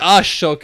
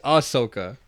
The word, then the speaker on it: Ahsoka: you don't pronounce it Ahsoka because it's HS not sh HS so it's Asoka no you keep saying you're saying a shoka it's aoka oh